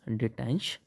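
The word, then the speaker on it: détente: B French word था ये डि डट कहते हैं जिसे इसकी स्पेलिंग होती है डीई टी ई एन टीई इस डिटेंस या इसको फ्रेंच जो बर्ड होता उसको पढ़ते डटा उसका मीनिंग बता सकते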